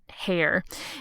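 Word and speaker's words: Heyer: book is called venetia by an author georgia hair and hair is spelled h-e-y-e-r i have seen her name floating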